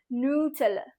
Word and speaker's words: Nutella: be like, wow, that is not how I pronounce it. So it is Nutella.